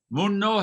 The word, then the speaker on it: 문로: 문노해요? 문로라고 발음해요? 뭘로 해요? Do you pronounce it Munno? Or Mullo? 뭘로해요 Mullo. 발음으로 For correct pronunciation. 한글 발음이 Pronunciation of sound changes in hangeul. 그냥 노가 맞는데 이렇게 두음법칙으로는 It should be “no”, but sound change rules say 문로라고 발음해요 Mullo is the correct pronunciation. 신라 처럼 문로 하는 거죠 Like Silla, it’s Mullo.